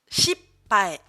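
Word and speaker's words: しっぱい: La prononciation. L'écrivain, ça se dira Saka. Journal intime, Nikki. L'échec, Shippae.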